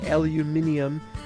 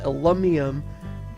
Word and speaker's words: aluminium: a tin copper aluminium I do that so as to upset the people who wouldn't pronounce it with the American word and I'd like to piss off both sides I just call it alum Miam but I don't even like that word and this is the